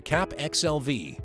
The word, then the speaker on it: CAPXLV: This video will give you the keys to successfully set up and connect a community with the CAPXLV (PRONOUNCED CAP X. L. V.)